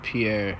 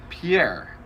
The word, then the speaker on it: Pierre: r I think I would assume that was Pierre yeah same yeah no exact same what is it pronounced uh in anywhere but South Dakota Pierre in South Dakota it's Pier here okay it's